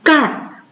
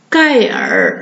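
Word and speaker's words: 盖儿: 都没了，读成盖儿是吧？不能读盖尔是吧？盖尔贝尔、神儿这样读就错了。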